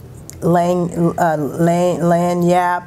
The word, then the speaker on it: Lagniappe: Lagniappe. Because I had to look it up. Lagniappe, because the G is silent.